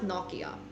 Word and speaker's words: Nokia: spoke pretty fluent finish it's pronounced noia in Finnish Nokia noia and like all of